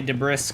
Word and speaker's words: debris: Debris the S is silent. I know. But it's I like to say de brrisk cuz it's more fun.